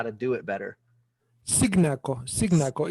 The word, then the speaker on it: Cignacco: Cignacco. It's an Italian surname.